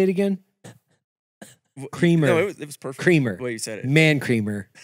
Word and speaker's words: Kramer: Kramer.